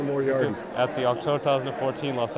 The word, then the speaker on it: Moriarty: Moriarty? Yeah, Moriarty, like Sherlock Holmes, like Professor Moriarty.